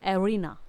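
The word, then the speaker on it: arena: जाता है उसे जगह को हम बोलते हैं रीना स्पेलिंग होती है ए आर ए एन ए आईटी इसे रीना ठीक है तुझे ये तो थे नाम का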